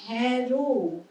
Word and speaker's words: হেরো: অ যেভাবে বলছিলাম না, হর্ষ উকার দীর্ঘ উকার থাকলে এ অ উচ্চারণ, অটাকে ও উচ্চারণ হয়, এক্ষেত্রে এ উচ্চারণ হচ্ছে, ঠিক আছে। কিন্তু যেখানে নেই সেক্ষেত্রে আমি কি বললাম? হ্যারো, হেরো নয়।